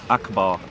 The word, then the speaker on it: Akbar: this one here yeah Akbar and it's pronounced Akbar yep right so every